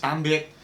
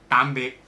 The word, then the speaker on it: Tạm biệt: Tạm biệt. Say it again. Tạm biệt. Tạm biệt.